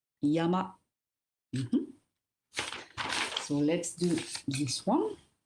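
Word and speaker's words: 山: And a mountain, you pronounce it Yama. Yama. Yama.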